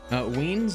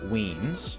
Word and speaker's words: Ween: Weens is another Ween, not Weens, is another streamer.